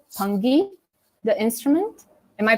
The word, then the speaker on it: pungi: gave a shout out to, is it called pungi, the instrument? Am I pronouncing That's one of it the right? names, yeah, the pungi, yeah. Oh, the pungi.